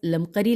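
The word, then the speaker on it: المقری: ہے نفخ الطیب، از لمقری احمد بن محمد، ہم ہجے کریں گے نون فیخ نفخ الطیب، الف لام طیب نفخ الطیب، از لمقری لام میم قاف رے چھوٹی ہے لمقری احمد بن محمد۔ نیکسٹ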